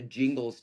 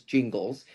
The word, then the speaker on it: Gingles: was basically under the Jingles test, which is a Supreme Court decision, Thornburg versus Jingles. It's spelled Gingles.